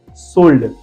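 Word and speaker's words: sold: जैसे कि आप देख लीजिए एक्सेप्शन में सोल्ड, यहाँ पे ओ के पीछे एल है, फिर भी हमने ल को पढ़ा।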